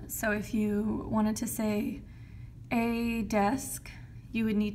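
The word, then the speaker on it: c'est: who already do know say means it is and you pronounce it like say like say what you need to say okay anybody John Mayer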